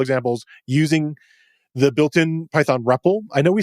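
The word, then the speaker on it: REPL: and so forth thepp which is what we're sort of pronouncing as a repple is the read evaluate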